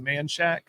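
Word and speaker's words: Manchaca: There's one right by Crockett High School over off it's spelled Manshaka, but off of Manshack.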